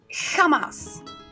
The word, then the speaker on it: jamás: Then which is your J in English. Like Loch Ness. It comes from the throat. Jamás. Never.